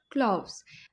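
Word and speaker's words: clove: अगर हम इसके प्रोनाउंसिएशन की बात करें तो आपने जैसे क्लॉक बोलते हैं उस तरह से आप बोलेंगे क्लॉव, ठीक है। क्लॉक की तरह क्लॉव। जैसे हम बोलते हैं ना ग्लव, उसकी तरह से लोग अक्सर बोल देते हैं क्लव।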